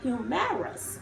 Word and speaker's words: humerus: funny bone, which is oddly called a humerus, okay? Boom, pronounced the same way though, humorous.